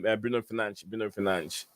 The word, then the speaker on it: Bruno Fernandes: that he's always pronounced his name by he's pronounced his name Bruno Fernandes.